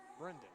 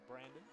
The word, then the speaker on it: Brendon: right in the belly keep saying his name wrong I'm sorry about that Brendon Bowman Brendon keep saying Brandon close gotta get his